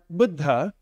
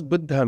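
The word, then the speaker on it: बुध्: So the word Buddha um what does Buddha mean? Anybody know it's basic meaning? Awakened. Perfect. Awakened comes from this little root bud. Budd. Repeat after me. Budd.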